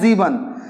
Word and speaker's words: sieben: Okay, and similarly, this S, like you have got now these two words, Sechs and Sieben. If initial letters, initial alphabet, we are having S, we will pronounce it as Z.